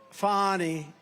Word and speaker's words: Fani: It's pronounced Fani, F-A-N-I, that's Fanny. But she likes it Fani.